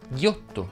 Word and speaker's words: ghiotto: Fanno eccezione le parole rotto, sotto e ghiotto che si pronunciano con la O chiusa.